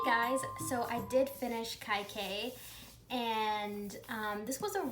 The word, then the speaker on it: Kaikeyi: so in the audiobook they keep saying her name kai k so that's what i'm gonna say kai k that's pretty easy to pronounce um but anyway uh